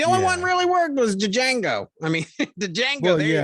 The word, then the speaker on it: Django: Django. Yeah, Django. Yeah, that made sense. As the unfortunate, D is silent.